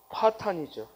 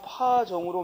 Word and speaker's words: 파탄: 다음에 파탄이죠. 이 파탄은 그동안 파정으로 많이 출제됐어요. 파정이 아니라 뭐다? 파탄. 왜냐면 이 탄자가 탄이라는 발음을 추려할 만한 게 없는 거야. 그렇지? 돌속자와 그리고 정할정자가 들어있으니까, 아니지, 실사병과 정할정자가 들어있으니까 이걸 도저히 탄으로 읽기가 어려운 거죠. 그래서 시험에 잘 나오는 거야. 파정이 아니라 뭐다? 파탄이다.